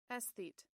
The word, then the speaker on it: aesthete: Every single time I've never heard this pronounced. Aesthete. An aesthete. That is not how I would have thought.